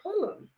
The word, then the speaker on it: Pulliam: But Keisha and I Pulliam, is it Pulliam or Pulliam? Pulliam. Okay, I've been saying it wrong for years.